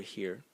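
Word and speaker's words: 禾: And the semantic element in it is this part over here, which is pronounced he, and it is grain.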